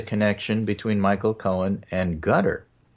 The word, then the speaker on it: Qatar: between Michael Cohen and Gutter. Gutter? I hardly... Qatar. Gutter. Yeah, right. Well, I think you're correct in the pronunciation.